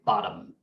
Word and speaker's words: bottom: So B-O-T-T-O-M, bottom, right? That's not how we say it. We say bottom, bottom. What's the vowel in the second syllable? Well, orthographically or spelling wise, it's an O, right? But there is no O there.